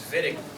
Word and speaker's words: Wittig: Pronunciation for that is Wittig.